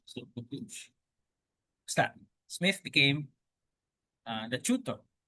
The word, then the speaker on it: Buccleuch: tutor the young Duke of, how do you pronounce this one? Buccleuch. So Buccleuch.